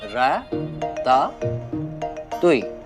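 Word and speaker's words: ratatouille: seasonal vegetables सब्जी तरकारी इसका नाम भी गलत ले रही हो तुम इट्स प्रोनाउंस एस रा तुई बोलो मेरे साथ र ता तुई रट टू टई रट जो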